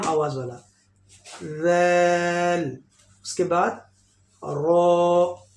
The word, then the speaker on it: ر: उसके बाद रो. रो heavy sound, मोटा लेटर है, इसको हेवी फेट करके पढ़ना है.